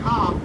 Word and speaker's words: conch: Yeah, when I say the word conch, be aware it's spelled C-O-N-C-H.